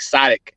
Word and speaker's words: Sodiq: mine is spelled with an O, but it's like Sadiq.